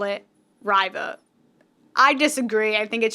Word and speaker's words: Riva: it's spelled r-i-v-a riva i i want to call it river but with like an r sound so like river like a british british people would say and then she would